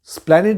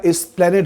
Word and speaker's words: এসপ্লানেড: সঙ্গে আমাকে আটকে বললেন প্রথম উচ্চারণটা সঠিক দ্বিতীয় উচ্চারণটা ভুল অর্থাৎ প্ল্যানেট বলা যাবে না কথাটা এসপ্লানেট বলতে হবে ছোট ছোট বিষয় মানুষকে তৈরি করতে কতটা সাহায্য করে অকল্পনীয় আপনি ভেবে দেখুন 2025 পড়ে গিয়েছে অতদিন আগেকার ঘটা ঘটনা বা কথা আজও ভুলতে পারিনি কিন্তু অর্থাৎ উচ্চারণে কতটা স্পেসিফিক হতে হবে এই কথাটা ভুলতে পারিনি সেই প্রথম ইন্টারভিউতে উনি বলেছিলেন কথাটা এসপ্লানেড হতে হবে এবারে চলে এলাম